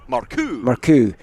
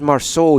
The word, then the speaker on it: Marcoux: Marcoux. That's my third different pronunciation of him. I tried Marceau yesterday, and then you told me it wasn't that, and then I forgot what it was before we started the commentary.